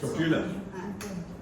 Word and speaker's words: tortilla: It's a tortilla মধ্যে stuffing দিয়ে cheese দিয়ে Tortilla. Tortilla. tortilla. Not tortilla. No, L is silent.